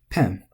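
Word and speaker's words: ペン: Pen. This is accent. I know I promised to point at the words and let you read it, but this is taking a lot longer than I thought. I kind of want to go fast. I don't think I've heard this word flattened. It doesn't make sense with how short it is, which we'll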